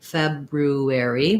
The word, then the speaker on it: February: this one as well there's two correct ways you can say this it is correct to say february with both r sounds that would sound like feb um first syllable stress february that sounds like feb roo air e however you'll notice most native speakers or at least most americans don't say february it's tough and so we cheat and we say feb